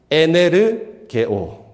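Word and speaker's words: ἐνεργέω: 이 단어의 원어의 발음이 이렇습니다. 에네르게오. 좀 익숙하지 않습니까? 에네르게오.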